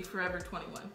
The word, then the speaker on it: Forever 21: But it should be Forever 21. 21. Yeah. Ainda eu compro coisas nessa loja e eu me sinto um pouquinho... triste, porque eu não sou 21. Mas eu vou! Forever 21.